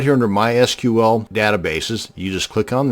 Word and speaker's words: MySQL: This video is going to show you how to create a MySQL database. And yes, it's pronounced MySQL, not MySQL.